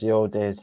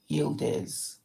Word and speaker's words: Yildiz: Okay, so my last name's Yildiz. It's said how it's spelled. Yildiz.